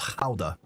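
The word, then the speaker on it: Gouda: I was told quite quite profusely it's pronounced how not Buddha as we tend to butcher things into our language.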